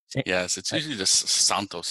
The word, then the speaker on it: Santos: vary a lot yes Santos Santos just like from Spanish yeah that's that's kind